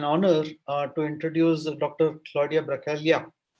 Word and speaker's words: Bracaglia: Claudia Bracaglia. I hope I am spelling the second name right because G is silent in Italian, as I realize.